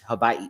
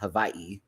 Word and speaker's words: Hawaii: is you know Hawaii like my friend would say it like almost like a V Hawaii I have a friend who was uh who is from Hawaii who now lives in Hawaii uh but that's how she would say it she wouldn't say it like Hawaii she'd be like Hawaii like almost like it sounds like a V but it's not um Sasha told a